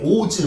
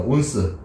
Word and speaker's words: 온스: 발음이 오즈 막 이럴 것 같지, 그치? 전혀 그렇지 않아. 자, 이거는 발음이 뭐냐면요. 한글로 적게 온스라고 있습니다. 온스.